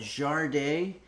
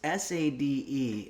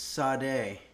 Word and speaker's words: Sade: Some people call it Jardé, but it's S-A-D-E. It could be Sade. Computer, how do you pronounce Sade? I pronounce that Sade, but I'm always working on how I say things and I might not have it right.